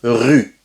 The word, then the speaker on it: rue: Par exemple, quand tu dis une rue, una calle, c'est pas pareil que une roue, una rueda. Si tu prononces roue par la calle, les Français vont comprendre rueda.